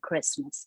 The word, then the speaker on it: Christmas: itu silent T ya, jadi tidak kita baca dengan Christ gitu ya, Christmas gitu, tapi T-nya di silent Christmas gitu.